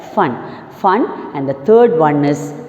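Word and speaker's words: Foehn: F-O-E-H-N will be pronounced as fun.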